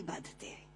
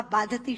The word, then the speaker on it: बाधते: मुंह से बोला हुआ बाधती शब्द कष्ट दे रहा है, क्योंकि बाधती शब्द का अशुद्ध उच्चारण आपने किया है। ये शब्द बाधते होना चाहिए। भारम न बाधती राजन यथा बाधती बाधते।